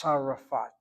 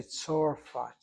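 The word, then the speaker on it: צרפת: But nobody says tzarifat. They say tzorfat. They say there's an or sound.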